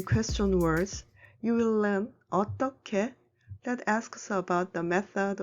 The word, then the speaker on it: 어떻게: Take a look at 어떻게. When who meets 그, you should pronounce it as 크.